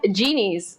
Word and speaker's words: Genies: you didn't mispronounce it it's called genies so think about a genie in a bottle making wishes come true